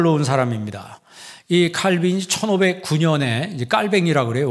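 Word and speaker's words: Calvin: 사람입니다이 칼빈이 1909년에 이제 깔뱅이라 그래요 원래 이름은 이제 프랑스 발음으로는 이제 깔뱅이라고 표현하는데 영어 발음으로 이제 칼빈이 이렇게 이야기합니다이 칼빈이이 프랑스 노형에서 출생을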